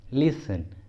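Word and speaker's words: listen: ठीक है, कुछ कॉमन इंग्लिश वर्ड्स में टी साइलेंट रहता है। For example Christmas, Christmas, often, often, लिसन, लिसन, इन सभी वर्ड्स में टी साइलेंट है।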